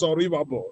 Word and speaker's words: Oribabo: I'm very sorry the real pronunciation is Oribabo. Oribabo.